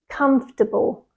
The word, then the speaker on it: comfortable: the correct pronunciation is comfortable comfortable it has three syllables comfortable but the trick